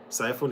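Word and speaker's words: Psiphon: Ciphon is spelled PS I P H O N.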